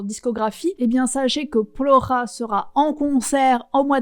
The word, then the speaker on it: Плохо: Et en gros, en russe, le O qui n'est pas accentué se prononce comme un A. En l'occurrence, dans le mot plora, c'est le premier O